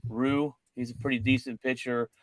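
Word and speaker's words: Ryu: It's Rue.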